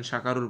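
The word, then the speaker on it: شكروا: হ্যাঁ, আরবি রসমুল খত বলে, আরবি লেখার নিয়ম অনুযায়ী এই আলিফটা অতিরিক্ত আসে, এটার কোনো উচ্চারণ আসে না, ঠিক আছে।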